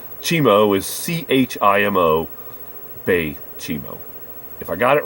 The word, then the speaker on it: Baychimo: I could be mispronouncing it, but I chose to pronounce it this way because of the Hudson Bay Company. I would assume that the Bay would be correct, and Chimo is Chimo, Baychimo.